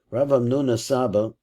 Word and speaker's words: Hamnuna Saba: Rav Hamnuna Saba, Hochi Garcin, and he says that's really the right way to say it.